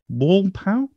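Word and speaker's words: Wolpaw: the kiwi talks podcast eric wallpark wall pal okay help me out w-o-l-p-a-w how do you say that pal yeah that's what i'm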